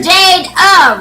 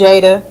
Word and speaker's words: Jada: Jade up, right? Yeah, it's Jada. Jada. She got Jade up. I saw you got your little apostrophe and stuff. I Yeah, want to. because people got to pronounce it right. It's Jada. Yeah.